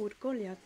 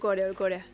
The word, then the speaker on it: Urkoria: ¿Es Urkoria o Urkolia? Creo que no hemos que pronunciarlo mal. Porque se me ha apuntado. Yo tengo apuntado Urkoria. Urkoria. Sí, es Urkoria.